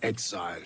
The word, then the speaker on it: exile: This noun has two syllables and the stress is on that first syllable.